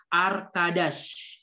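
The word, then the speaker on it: arkadaş: itu dalam bahasa Arab Oke arcades jadi seperti itu cara membacanya arcadas Nah itu cara membaca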